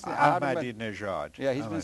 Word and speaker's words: Ahmadinejad: How do you pronounce it? Ahmadinejad.